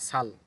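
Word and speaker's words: 잘: এখানেও শব্দের শুরুতে জিউত আছে, সুতরাং স ধরতে হবে, আর রিয়েল নিচে থাকলে তো ল হয় সাল।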